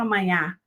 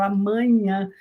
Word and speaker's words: amanhã: Então, amanhã, eu não falo amanhã, eu falo amanhã. Veja que o segundo A e o terceiro A são nasais. Por que são nasais? Porque nós temos um M ali antes do A, né? M de amanhã, e tem o N